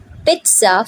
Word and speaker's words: pizza: first is z or the first z turn into T sound and you will pronounce it like piz Pizza I ate pizza for lunch yesterday he